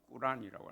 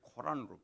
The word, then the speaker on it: 꾸란: 그 어디서이 갈라지는가면 이슬람교들 도들은 코란에 정확하게 파음하면 꾸란이라고 하는데 우리는 학교 다닐 때 코란으로 배웠기 때문에 저는 막 코란으로 말할게요.